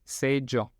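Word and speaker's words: seĝo: Esto de nuevo, la S como la S en castellano, y la G se pronuncia ya. Entonces, sello.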